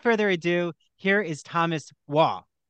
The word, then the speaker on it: Waugh: So Dr. Thomas, or is it? Waugh, Waugh. Okay. Oh, just like the British writer.